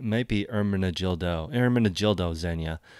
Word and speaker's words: Ermenegildo Zegna: be our managed ildo Ermenegildo Zegna as the pronunciation of this brand right here but if you put